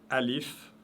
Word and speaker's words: alif: Alif représente la voyelle ou le son A, et alif est toujours léger. On dit A, on ne dit pas A.